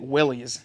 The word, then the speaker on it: Willys: of North American, Stellantis, he said it Willys. So by him saying that, I kind of was like, all right, that's the proper way to say it.